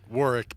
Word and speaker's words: Warwick: head I so you pronounce it yeah you pronounce it Warick but his name is it spelled war is